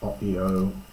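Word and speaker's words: ὀΐω: Uga oio, this is oio, I think. It's another form of oiamai. Here taken as two syllables, hence the diaeresis mark.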